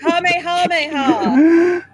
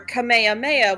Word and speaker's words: Kamehameha: he's using it, it's Kamehameha or Kamehameha, which is the proper pronunciation. And that's how King Kamehameha's name was said in Hawaii.